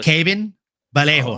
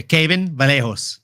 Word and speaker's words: Kevin Vallejo: to earn brownie points, when they say a Brazilian name like Kevin, they pronounce the V as a B. So, it's Caven Vallejo. Oh, Kevin Vallejo. Yeah, Caven Vallejo.